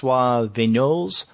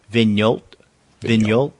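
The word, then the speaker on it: Vignault: okay this is fris venol Titan and I guess I'm pronouncing the last name correct it's v g n a u l t so VG venol that sounds good to me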